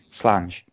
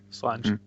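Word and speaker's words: Slàinte: Slange. That's how you pronounce that, isn't it?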